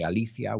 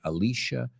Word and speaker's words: Alicia: number two Alicia Keys we don't say Alicia we say Alicia Keys and number three Virginia